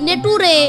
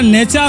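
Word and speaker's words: nature: আরে ওটা নেটুরে নয়, ওটা নেচার হবে, নেচার। আপনি বললে হবে, টি এর উচ্চারণ চকি করে হবে, টি ই সি এইচ ই আর টিচার হয় তাহলে এন ই সি এইচ ই আর, তবে নেচার হবে। না রে বাবা, ইংরেজি উচ্চারণ ওইভাবে হয় না।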